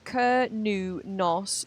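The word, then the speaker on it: Cernunnos: Cerninus pronunciation. It's typically pronounced kernos, though some say new s. I like sernos better. Okay, we're going to be going with sernunos.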